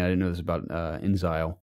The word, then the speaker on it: inXile: didn't know this about inXile which I think I'm pronouncing that right like instead of exile it since I oh